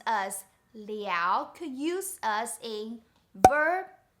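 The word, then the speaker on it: 了: see in this sentence the first word is pronounced liao and the second la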